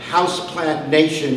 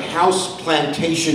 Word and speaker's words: Houseplant Nation: PR in terms of Houseplant Nation. If not pronounced right, it sounds like House Plantation.